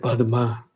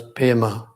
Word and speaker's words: Padma: Then Padma also pronounced some in Sanskrit Padma, yes, P and DM HA kind of thing, Padma. But in central Tibet, it's pronounced as Pema.